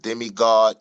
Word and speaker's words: Demegod: But demiggod is spelled D E M E G O D.